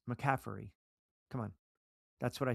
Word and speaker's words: McCaffrey: I never once said a T. It's McCaffrey, right?